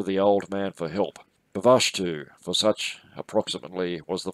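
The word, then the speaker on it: Bvalltu: old man for help avashtu for such approximately was the philosopher's name the double l being pronounced more or less as in welsh bavashtu affected a cure by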